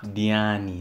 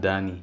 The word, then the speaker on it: Diani: Diani, not Dani, Diani.